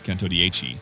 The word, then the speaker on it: Centodieci: The name might be tricky to pronounce, Centodieci, but the meaning is simple, 110 in Italian.